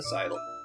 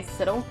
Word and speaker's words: sidle: Oh my god, that's how you pronounce that word? Sidle? Oh my god. How do you pronounce it? I've never heard anyone say it in person, I've only read it. So I say siddle.